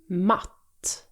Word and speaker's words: matt: Mat, matt. Vit, vitt. Tal, tall. Glas, glass. Bus, buss. Did you hear the difference? The vowel sound in mat is stretched out, while in matt, it's much shorter and quicker.